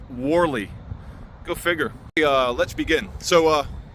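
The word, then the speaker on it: Whalley: Wally is pronounced Warley.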